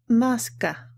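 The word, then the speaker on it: מסכה: this hebrew word and it's pronounced maska mask i hope that this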